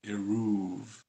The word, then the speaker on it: eruv: what is an arab an arab is different than the word right erev means night and what we're talking about is the eruv and it is spelled differently as in addition to being pronounced differently as well and what an